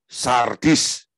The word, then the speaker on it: Sardis: ke-5 ya adalah jemaat sardis Ya baca Abah hati-hati membacanya Jangan dihilangkan er nya nanti jadi sadis ya Eh Jemaat sardis Wahyu